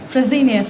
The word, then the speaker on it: Fresenius: Did I mispronounced it a bit? Fresenius, thank you so much.